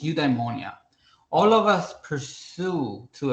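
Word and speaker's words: eudaimonia: Uh, udeimmonia, uh, spelled as ye, uh, eu d a i m o n i a. It's udeimmonia.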